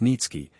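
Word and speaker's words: Niëtzky: a certain polish nobleman Nikki pronounced nitzki had obtained the special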